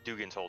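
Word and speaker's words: Dougan's Hole: In another DM pronounced it Dugan's Hole to me. That's how it was pronounced in my other campaign. So It's that's Doug. It has D-O-G. That's Doug, right? no D-O-U-G. Whatever. Yes, Dugan.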